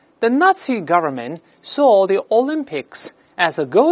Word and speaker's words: Nazi: 个纳粹，不要读 Nazi 啊，这是个外来词，中间这个字母 Z 发 c 这个声音，在单词中间发 c 特别少见。我们大声来读一下 Nazi，在中间发 c 的非常少见。